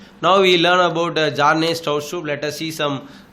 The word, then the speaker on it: Bjarne: Actually, Jarne, B is silent.